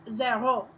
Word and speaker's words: zéro: So, starting with 0, it's pronounced zéro, zéro, and then 1, 2, 3, 4.